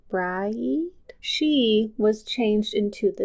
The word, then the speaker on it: Brigid: one of the goddesses, it's spelled like Brigid, but I think I was told it was Bride.